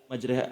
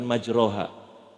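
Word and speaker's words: مجراها: saja yang kita baca Kenapa bacanya majreha bukan majroha di al-quran membaca yang kita biasa baca di Indonesia yang ini ayat ini doang majreha karena ayat ini menceritakan tentang Hai kapal yang berjalan di Gelombang di atas laut namanya gelombang itu pasti miring Hai makanya hukum tajwidnya disebut imalah rada miring makanya bacanya nggak majroha majreha dan banyak kalau mau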